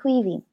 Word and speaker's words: Caoimhín: So that would be Caoimhín.